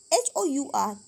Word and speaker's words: hour: अब हम क्या करते हैं, और क्या होता है, हमारा घंटा होता है, HOUR। वो तो हमें पता है कि यहाँ पर एच क्या होता है, वो साइलेंट